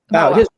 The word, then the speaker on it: Bauer: Is it Bauer or Boer? How do you? Dawah. Bauer. Okay, I wasn't mispronouncing it.